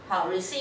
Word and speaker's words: receipt: mention like invoice receipt， receipt 应该都知道的 P 不发音的receipt OK purchase orders。Bank statement 这些都是非常重要的东西，是你的 source document.